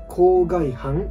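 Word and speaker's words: 口蓋帆: いるんですね郊外班と読むんですがこの郊外班どこ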